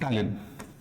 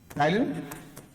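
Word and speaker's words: ptyalin: दिख रहा है हां टाइलिन टाइलिन या एमाइज भी कहते हैं इसी को एक ही दो नाम है एक एंजाइम के इसमें पी साइलेंट है लेन और आपका एमाले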